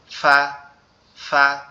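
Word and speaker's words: ف: ফায়ের উচ্চারণটা আমাদের নিচের ঠোঁটের পেট, সামনের উপরে যে 2টা দাঁত আছে, এই 2টা দাঁত নিচের এই ঠোঁটের যে নরম অংশটা আছে, এই জায়গার সঙ্গে লাগবে, লেগে উচ্চারিত হবে ফা ফা ফা।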